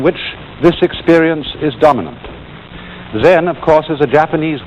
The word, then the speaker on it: Zen: this experience is dominant then of course is a Japanese word and it's spelled ZEM and that is the Japanese Way of pronouncing the Chinese word Chan and this in turn